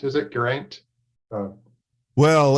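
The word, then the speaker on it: Geraint: name garant is it Grant uh well if if your Welsh you sort of roll the r a little bit and the AI sort of sounds a bit more like an eye it's well yeah I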